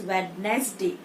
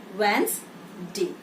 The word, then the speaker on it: Wednesday: But in Wednesday, D is not pronounced. It's not said as Wednesday. It's Wednesday.